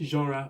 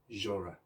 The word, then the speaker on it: genre: music is jazz so i don't know how you have pronounced the word showing on your screen until now but the correct pronunciation is jorah let's say it together genre okay now let's